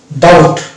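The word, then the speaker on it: doubt: অতএব বি সালে হয়ে যাবে এবং শুধু টের উচ্চারণটা অর্থাৎ এটা হয়ে গেল ডাউট এই যে আমরা বলি না ডাউট শব্দের পরিচিত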